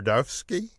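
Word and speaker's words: Zdarsky: does a series with chip their Duff's key is how you pronounce it Jacob sidarsky I think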